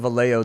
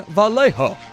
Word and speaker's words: Vallejo: they're always on the radio everybody calls it valeo that lives here but like everybody on the radio is like in vallejo they always like pronounce it hella weird they'll